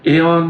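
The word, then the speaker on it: Eoin: I was a woman with light skin, long reddish hair, and I was married to a man named Aon McCormack, it's spelled E O I N, who worked daily at a water powered sawmill.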